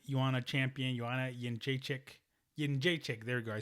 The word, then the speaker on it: Jędrzejczyk: Jędrzejczyk.